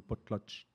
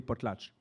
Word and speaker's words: potlatch: Et ça se prononce, donc ça vient du chinook. Et ça se prononce quelque chose comme potlatch, avec un tch à la fin.